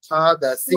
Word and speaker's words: खादसि: দন্ত স উচ্চারণ করতে হবে ঠিক করে, আমি শিখিয়েছিলাম, খুব ভালো করে শিখিয়েছি। দন্ত স মানে দাঁতে উচ্চারণ, জিহ্বা দাঁতে স্পর্শ করবে। খাদাসি।